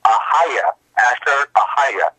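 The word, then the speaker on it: Ehyeh Asher Ehyeh: God's name in the ancient Hebrew is pronounced Ahaya, Asher Ahaya, Ahaya, Asher Ahaya, Elohim.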